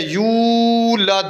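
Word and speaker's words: يُولَدْ: لمبا کیا جاتا ہے یولد، یو یہ واو پڑھی جائے گی. ہم غلطی کیا کرتے ہیں؟ لم یلد ولم یولد، ولم یولد، یہ آگے جو واو ہے یہ پڑھتے نہیں ہیں.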